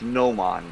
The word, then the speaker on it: gnomon: It's gnomon, bro. I'm telling you, that's how you pronounce No, I got it right here.